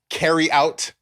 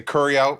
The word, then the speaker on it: carry out: enjoy it and drip they don't say carry out they say it correctly they say Curry out Curry out you know what I